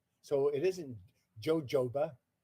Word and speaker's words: jojoba: Jojoba, well, it's a Spanish word. And the J is silent. So it isn't jojoba, it's jojoba.